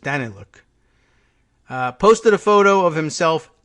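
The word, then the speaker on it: Danylyuk: Minister Aleksandar Danny Luke I think I heard the pronunciation on Wednesday and I think I was going with Danny Luke but I think it's just Danny look posted a photo of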